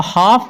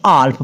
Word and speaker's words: half: नीचे HALF ऑफ, इसको हाफ पढ़ना है, ना कि आल्फ पढ़ना है, क्योंकि एफ से पहले एल है। क्लियर।